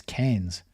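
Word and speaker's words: Keynes: prompt to point out the name Keen properly pronounced rhymed with brains ah so it's canes not keen it's canes his gifts of persuasion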